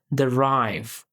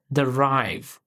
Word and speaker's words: derive: Its pronunciation, derive, is pronounced as derive. You can say it like derive. The stress falls strongly on rive, so your voice should rise slightly on that part.